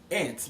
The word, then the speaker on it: ANTs: can t as is also called ants I pronounce that ants it's an acronym and it's it's just like